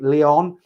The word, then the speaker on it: Leon: I think it's Leon or not Lion, Leon, Valerie Leon.